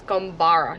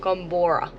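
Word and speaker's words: Goomburra: the information and also I think I'm saying it wrong apparently it's gbara not Gora goomara go goomara goom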